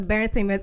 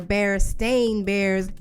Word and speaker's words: Berenstain: It wasn't Stain. It was Stein. The Berenstain Bears. I mean, I never knew how to pronounce it correctly, but there definitely wasn't no stain.